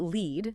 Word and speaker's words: lead: And just to be clear for everyone, we're talking about lead. That's L E A D pronounced lead as in you know getting prospective customers on your list.